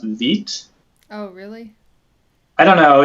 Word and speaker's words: Vite: So I think it's pronounced Veet.